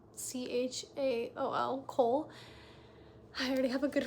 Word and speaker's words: Chaol: I think that's how you say his name, Chaol, Cole.